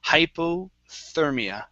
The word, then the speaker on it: hypothermia: So this is going to be a TH sound here. Sometimes when the TH is buried in the word, the H goes silent every once in a while. Okay, but here it won't. So this will be hypothermia.